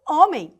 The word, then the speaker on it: homem: na língua portuguesa como homem não tem o som do H E se fosse na